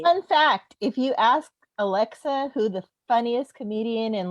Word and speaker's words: Alexa: I'm like, you got to pronounce the X.